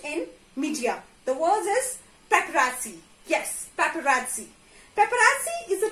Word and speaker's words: paparazzi: I did not say paparazzi. I say paparazzi. Yes, there is additional sound of T here after R.